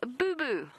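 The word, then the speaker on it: boubou: A southern boo-boo, which sounds like something you get when you're a kid, when you graze your knee or your elbow.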